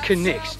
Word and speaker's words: Cnicht: is actually quite simple it comes from the old english word night and that was before the letter k was dropped in the pronunciation because it used to be canite and now it's connex and the reason for